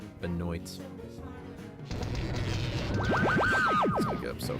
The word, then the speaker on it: Benoit: Actually, Detroit Benoit. That's how we're pronouncing it. Benoy.